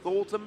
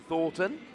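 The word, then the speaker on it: Thorton: Palpad is going to put Thornton back. Yep, very impactful. Fun fact, only one N in Thornton. Yep. Commonly mispronounced supporter card.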